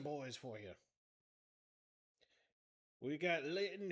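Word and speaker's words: Litten: We got Linton, whose name rhymes with kitten.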